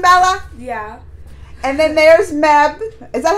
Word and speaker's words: Mebh: And then there's Mebh.